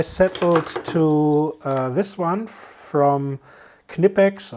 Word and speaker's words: Knipex: But finally I settled to this one from Knipex, or Knipex as you English speaking people probably will pronounce it, and we'll before